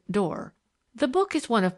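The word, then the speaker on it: Doré: She pronounced it Dor.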